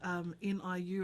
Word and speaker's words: Niu: So NIUPATCH is spelt N-I-U as in Niu. And it's the Samoan word for baby coconut. Oh, wow. So it's also a play on new as in new, like, how we might say the English word new.